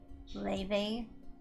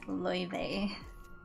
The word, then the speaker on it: Laufey: Like I think most people say it like Leve, and she's also okay with people saying it that way. But I think, you know, some people also say her name like Laufey. But yeah, it's Loewe.